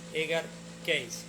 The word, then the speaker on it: Edgar Cayce: bien sea de uno mismo, como lo hacía Edgar Cayce, o para los que pronuncia bien en inglés, Edgar Cayce.